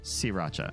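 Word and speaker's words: Sriracha: this is Thailand and in Thailand they don't pronounce the r because it's it's hard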